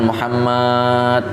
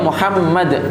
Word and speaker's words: Muhammad: Jadi kalau membaca sholawat atau menyebutkan pujian atau apa ya harus benar, jangan Muhammad misalnya. Lah ini nama beliau Muhammad, bukan Muhammad, seperti itu.